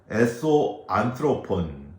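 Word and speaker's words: ἔσω ἄνθρωπον: 속사람은 헬라어로 에소 안트로폰 이렇게 발음을 하는데요.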